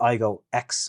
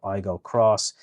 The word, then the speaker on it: Aygo X: The Aygo X hybrid is the same, or Aygo Cross, depending on what way you want to pronounce it.